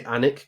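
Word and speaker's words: Alnwick: So, in uh I I would say Anic Castle in the the northeast of uh England, Northland, it's spelled Alwick Castle.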